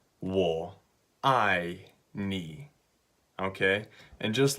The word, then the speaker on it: 我愛你: so it's really simple it's three syllables wool I nee okay and just like